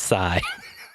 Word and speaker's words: Psy: Anonymous Sigh. Anonymous is spelled normally, and then it's PSY at the end, so Sigh.